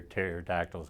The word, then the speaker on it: pterodactyls: why can't you hear pterodactyls go to the bathroom? Why is that? Because the P is silent.